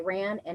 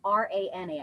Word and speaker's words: Rana: Rana Choir, spelled R-A-N-A, I believe it's pronounced Rana, a group of Arab